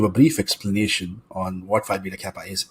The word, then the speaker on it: Phi Beta Kappa: the point that you were a member of Phi Beta Kappa, if I am pronouncing that correctly.